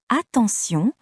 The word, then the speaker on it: attention: Dans le mot attention, T se prononce S.